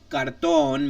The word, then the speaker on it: cartón: It must stress the last syllable at the end with the vowel, an N, or an S. So an example: cartón means box, like a box, or cardboard.